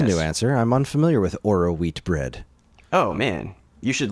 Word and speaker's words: Oroweat: Spelled like it sounds, Kris. Phonetically.